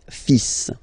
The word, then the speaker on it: fils: okay, so it's le, and then even if it, you've got this L, well, basically you don't pronounce it, and then strangely you pronounce the final S, le fils, le fils, le fils,